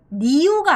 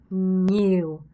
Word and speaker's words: nhiều: 중요한 건 nhiều 할 때 niew가 아니라고 했죠. 제가 여러분. nhiều 이렇게 발음을 하셔야 된다라는 거 기억하시면 됩니다.